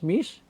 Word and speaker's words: Mys: How do you pronounce that? M-Y-S, Mys? Mys. Mys, I'm sorry.